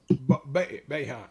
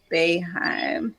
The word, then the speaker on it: Boeheim: Boeheim, yeah. Boeheim, yeah, okay, I said it right.